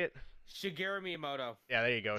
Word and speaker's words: Shigeru: So yeah, they the creator Singru is that how you say it? Shigeru Miyamoto.